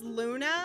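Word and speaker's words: Loona: could come up with it's Luna unless but it's spelled l o o n a I swear to God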